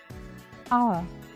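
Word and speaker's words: hour: sound air r honor although these words begin with the consonant H we do not use ER before them because the H is silent listen to how I say them air our honor see I do not pronounce the h sound I do not say hair or power so the article that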